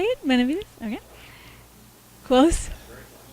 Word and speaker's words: Benavides: Benavides? Okay. Close? Say it for me. Benavides. Benavides.